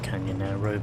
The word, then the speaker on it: Canyonero: Even though it is pronounced Canyonero but whatever, I said it like emperor Nero.